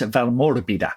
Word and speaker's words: Valmorbida: So it's Val Morbida. You go through your fingers. If you're Italian, you got do the fingers. Val Morbida. It's like Frederica, right?